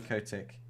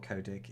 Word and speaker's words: Kotick: Jesus, if you've been living under a rock, Bobby Kotick, or Kodik if you're from America, depending on how you like to pronounce his name.